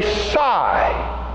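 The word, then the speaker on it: psi: name of that letter I'll spell it for you and then I'll say it it is P yes I and the P is silent so that would be sy wouldn't it it's not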